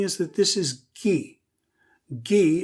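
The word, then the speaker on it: !gi: that this is ghee gee is spelled exclamation point gi and of course the exclamation point in the san language is a kind of clicking sound that i cannot imitate but when you have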